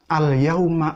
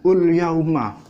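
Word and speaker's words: الْيَوْمَ: Nah, tapi yang di tengah-tengah itu misalnya alyauma akmaltu lakum gitu dibacanya ulyauma terus saya benarkan alyauma tetap ngeyel wong ini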